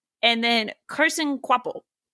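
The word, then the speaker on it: Kvapil: in the commentary, but his last name is has a V in it. We're not really getting any V sounds when we say quaple.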